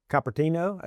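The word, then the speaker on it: Cupertino: They're uh in Capertino is how you pronounce it.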